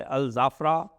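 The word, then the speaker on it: Al Dhafra: यहां यहां पे है अल जाफरा। डी एच ए एफ आर ए लिखते हैं। लेकिन इट is pronounced S जाफरा।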